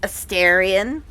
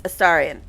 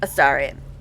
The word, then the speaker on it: Astarion: don't know why you think his name is pronounced Aarion or Aarion. It's Aarian. It's pronounced many times in the game. Three or four times in just that conversation. It's Aarian.